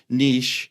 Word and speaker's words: niche: to by the way for the Canadians Niche I'm just throwing it out there but it doesn't rhyme with riches there are no rishis